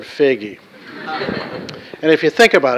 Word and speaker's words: Foege: have to master is learning how to pronounce the word figgy and if you think